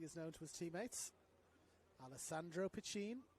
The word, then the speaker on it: Alessandro Piccin: AP, as he is known to his teammates, Alessandro Piccin. Jude Dolan has flagged me that is how the name is pronounced.